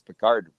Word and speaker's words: Pickard: I thought it was Pickard. Now it's Picard.